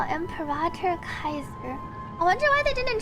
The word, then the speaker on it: Caesar: Caesar pronounced Kaiser.